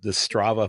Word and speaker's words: Strava: RFS page, as well as the Strava. Am I pronouncing that correctly? The Strava Excellent.